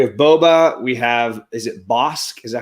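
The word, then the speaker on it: Bossk: We have, is it Bosk? Is that how you say it? Yeah, Bosk is one of the original OG bounty hunters that was with IG-88.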